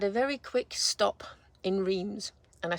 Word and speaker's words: Reims: I've had a very quick stop in Reims, and I say Reims, but apparently I don't mean Reims, I mean Reims or Reims.